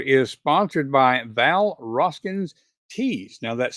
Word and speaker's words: Tews: And finally, this episode is sponsored by Val Rosskins Tease. Now, that's spelled TEWS, but pronounced like TE's.